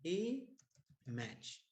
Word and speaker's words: image: put it here image even though it has five letters is e match because remember that this log e is mute you don't pronounce it so it's only two syllables e match and one of the